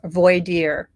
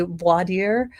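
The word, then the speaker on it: voir dire: but um you know it's called void dire void dire in um New Hampshire but that's Voyer it it's just very interesting how we all sort of pronounce these things a little differently so I say Vader but other people say voer or vo so it's very interesting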